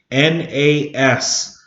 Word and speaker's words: nas: s what's that spell nos almost sounds like the word nos you know like in for cars you know that which to go fast but this actually is a salish word too nas it means when you